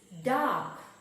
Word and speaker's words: dark: Next word is dark. Spell the word dark. D-A-R-K. D-A-R-K. Dark. R is silent.